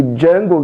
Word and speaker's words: Django: The D is silent.